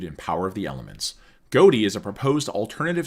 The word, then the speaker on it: Ghoti: It is derived from the gh in tough pronounced as a f sound. The o in women pronounced as an i and the ti in nation pronounced as a sh sound.